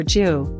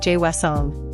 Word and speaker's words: 죄송: The jo sound is often tricky. It's not joy or ju, but a blend of j and well like jue. Practice saying jwesong.